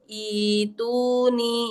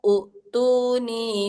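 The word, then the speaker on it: ائتوني: Ituni ya, jadinya ituni begitu ya. Bukan utuni bi kitab, bukan utuni tapi ituni ya.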